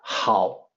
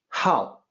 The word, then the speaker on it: 好: So the character 好, which means good, can be pronounced with a different pitch, 好, when you want to use it as a verb, to like something.